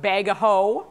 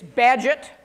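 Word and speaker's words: Bagehot: name don't ask me why that's how they pronounce it it's not Bago which you might think or badot it's badget okay shows how this could then be twisted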